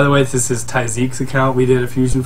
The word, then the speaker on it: Tijzeke: too long ago good we actually had been saying his name wrong for quite a while which is apologies yeah apologies to you man but we always called him TI but it's taik so I'm pretty sure he's